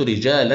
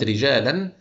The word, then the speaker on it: رجالا: على سبيل المثال رايت رجالا يعملون بجد كلمه رجالا انا هنا نطقت تنوين ومنطقتش الالف اللي انا اضفتها